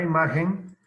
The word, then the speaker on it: imagen: manera dijere la palabra imagen no lleva tilde porque es palabra grave o llana porque revela acento en la penúltima sílaba y terminen punto final